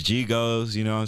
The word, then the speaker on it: GHigos: Yeah, and you definitely said it right. GHigos. For sure. It's GHigos, you know what I'm saying?